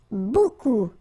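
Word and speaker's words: beaucoup: Remember, you don't pronounce the final p. Okay. And then you get this combination of vowels uh a and you get the sound o.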